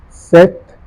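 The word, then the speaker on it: sept: tra then you have catri sank sank CE set a is silent set with there is no her sound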